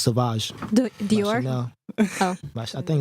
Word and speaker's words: Sauvage: Well, it's pronounced. I'll call it Savage, but it's Sauvage.